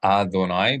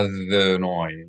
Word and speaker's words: Adonai: People try to pronounce the aleph here in the word Adonai. This letter is yud, but we read it as if it's an aleph. But this aleph would be silent because it has no vowel. Aleph is only pronounced as a glottal stop when it has a vowel in the same syllable associated with it. So not la Adonai, but la Adonai, la Adonai.